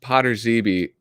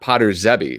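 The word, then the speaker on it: Potrzebie: Um, I've always mispronounced Potter Zeeby with a short E in the middle. Most use the long E, like here, Potter Zeeby. Yeah, not Potter Zebby, right? Potter Zeeby. Potter Zeeby. I mean, there's almost certainly a correct pronunciation, but I mean, it's like a colloquialism at this point, right? So like maybe our correct way of pronouncing it isn't actually the Polish way.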